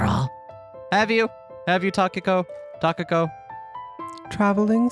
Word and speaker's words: Takako: Sanae stopped her nod midway and cocked her head and thought, I just realized I've been pronouncing Takako's name wrong this entire episode, haven't I? As what? Tokiko. Oh, that's someone else.